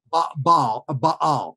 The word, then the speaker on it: Baal: Is that how you pronounce it, Baal? Baal, yeah.